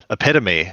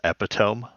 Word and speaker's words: epitome: Hey, I didn't learn how to pronounce epitome until I was like 22. I always just read it in books and thought it was epitome.